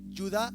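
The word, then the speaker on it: יהודה: venías con Judas Judas en en hebreo se pronuncia ciudad iscariota yudá iscariot no Judas iscariote lo traducen en el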